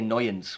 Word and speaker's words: Noyens: So Newens, is that how you pronounce his name? I would say Noyens.